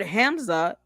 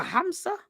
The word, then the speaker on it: Hamsa: The word Hamza or is it is I'm saying it wrong. KMA Kamsa Aamsa is a Hamsa maybe the K is silent.